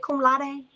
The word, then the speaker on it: cum laude: Cum laude?